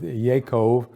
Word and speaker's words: Yaakov: So if you pronounced even Jacob with a Y sound, you would come up with Yaakov or Yaakov.